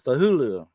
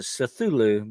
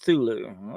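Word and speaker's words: Cthulhu: try to pronounce it cthulu because there's a sea on there but uh actually HP lovec himself pronounced it thulu okay I think the C was silent but anyway uh he's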